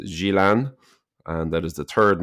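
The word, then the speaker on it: Gjilan: capital is Pristina and where Dra are from is pronounced Gilan and that is the third most populous city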